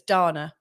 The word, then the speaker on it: Dana: Let's just see if I've got any comments from I pronounced it right first time, so it's Dana.